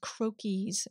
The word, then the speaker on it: Croakies: it talks about these things called croakies rhymes with hokie and they say that